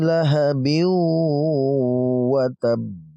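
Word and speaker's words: لَهَبٍ وَتَبَّ: Tabbat yada abi lahabin wa tab. Lahabin wa tab, ya, didengungkan. Ba-nya kita gabung dengan wawu, ya. Lahabiu, langsung ya dari bi ini kita langsung ke wawu karena digabungkan.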